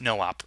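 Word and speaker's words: no-op: a no op so the way that you spell that is nooope but you pronounce it no op and what it means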